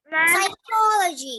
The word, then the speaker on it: psychology: me man yes uh in psycho psychology why do we have to put p it's psychology not ah the spelling is like that okay p is silent so you have